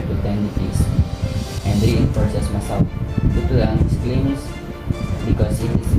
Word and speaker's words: Masao: According to the primary sources including the diary of Antonio Pigafetta, the Chronicle of Magellan's voyage, the place's name was supposedly 3 syllables, Masao.